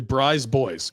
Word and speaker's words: BriseBois: It's actually BriseBois.